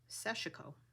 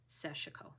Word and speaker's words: sashiko: think Japanese woman doing sashiko I always called it sashiko but I've heard it pronounced seshiko and I think she pronounced it sashiko so I learned that